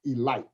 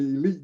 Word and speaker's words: Elite: baltimore elite giants now spell elite but it's pronounced elite because you make those negro leaguers mad if you call them the elite giants they were the elite giants and campy